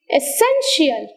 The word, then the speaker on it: essential: the syllable stressed syllable next essential essential word with iii l ending take stress on the second syllable from the last so you have the stress on sin essential sympathetic sympathetic courageous courageous